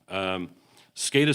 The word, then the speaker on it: SCADA: department any discussion you're wondering the term it's pronounced scada as our as our acronym forward that stands